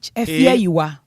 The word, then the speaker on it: Afia Ayiwah: no ye AFIA Afia and Ayiwah no AYIWAH Afia Ayiwah AYIWAH okay Ayiwah Afia na normal Afia na